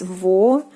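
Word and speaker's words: восемьсот: Next we have the 800, and it is 800. 800. 800. 800. Again, the soft sign, it doesn't soften the M consonant when you are pronouncing this word.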